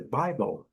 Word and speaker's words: Bible: Então a pronúncia, a melhor pronúncia é Bible. Lembrando que nós temos aqui a primeira sílaba forte, a segunda bem fraquinha, by.